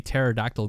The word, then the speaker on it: pterodactyl: Why can't you hear a pterodactyl go to the bathroom? I know this one. Because the P is silent.